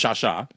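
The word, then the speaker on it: Xiaoxia: Yep, and it's spelled Xixi, but it's pronounced Shasha.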